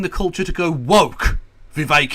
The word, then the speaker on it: Vivek: Vivek, it rhymes with cake.